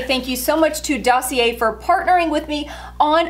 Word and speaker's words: Dossier: six times now and i've been saying the name wrong the entire time so i feel like a complete dummy dossier is what it's called and i am obsessed